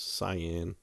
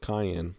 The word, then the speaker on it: cyan: sure how to pronounce cyan. kept wanting to call it cayenne. Anyway, like the pepper.